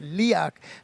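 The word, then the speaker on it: Leoch: If you're an Outlander fan, apparently that's the Castle, and that's how you say it. I thought it was going to be Leo, but it's Leak.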